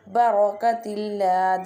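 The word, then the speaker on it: بركة الله: Barakatillah, this one ra will be bold because fatah sign is top of the ra.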